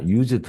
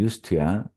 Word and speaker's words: used: 자, used 하면 안 돼. 발음이 used야.